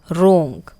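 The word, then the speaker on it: wrong: रोंग, अब रोंग बोल रहे हैं, डब्ल्यू का कोई यूज़ ही नहीं हुआ तो डब्ल्यू साइलेंट है, यानी कि जिस वर्ड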